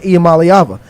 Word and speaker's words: Iamaleava: That's why I'm so good at saying Iamaleava.